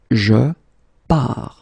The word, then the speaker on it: pars: So the first form will be je pars, okay? Remember, you put this S, you don't pronounce it.